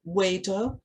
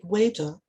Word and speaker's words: Veda: I should mention at this point that the letter V, as written in English and pronounced in English, is normally pronounced as a W in Sanskrit. So for instance, words such as Veda, Deva, and hence Devanagari have their V's pronounced as W's in Sanskrit.